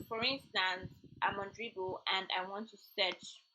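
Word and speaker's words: Dribbble: So there are sites like Dribble. Dribble is spelled DRI triple BLE.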